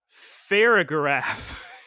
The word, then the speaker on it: Farigiraf: It evolves into everybody's favorite new Pokemon, Farigiraf. I gotta hear how you pronounce that, because that doesn't sound right.